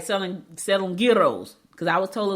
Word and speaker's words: gyro: Selling gyros. Because I was told it's a gyro, not a gyro, not a gyro, a gyro. Because I went to a